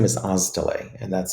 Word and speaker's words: Oztalay: I H, and my last name is Olay, and that's spelled O.